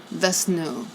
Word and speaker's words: Vishnu: Vishnu is pronounced Vesnu.